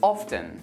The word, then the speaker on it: often: and match, which I often see my students trying to pronounce the T. Another one is often. However, you can also pronounce the T and say often. Both options are used almost equally.